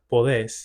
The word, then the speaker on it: podés: Relatedly, for verbs that have a vowel changing stem, you'll notice that they don't have that vowel change because the stress no longer falls on that syllable. So instead of puedes, you have podés.